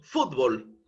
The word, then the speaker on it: fútbol: por un lado B cuál de las dos sílabas es la que lleva el mayor impulso de voz fútbol evidentemente la sílaba fut No es cierto fútbol